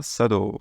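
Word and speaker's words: 茶道: et je dessine des descends simple ensuite on sado sado c'est la cérémonie du thé remarquez ici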